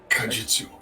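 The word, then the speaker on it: Kaijitsu: Kajutsu. Yes, Kajitsu.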